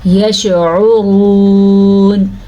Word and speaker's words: یشعرون: یشعرون، عین کے تلفظ کا دھیان رکھنا ہے، را کو پر پڑھنا ہے کیونکہ را کے اوپر پیش ہے.